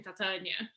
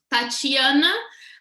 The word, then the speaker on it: Tatiana: or something like that everybody calls me Titania. Or they just get lost when I say the way I pronounce in Portuguese, which is Tatiana, but you guys don't have the chi, so you say Oh, just tawa.